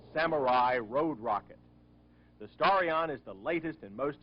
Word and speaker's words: Starion: this spaceship called the starrion no i didn't mispronounce the name it is starion not stallion like almost everyone thought when word about the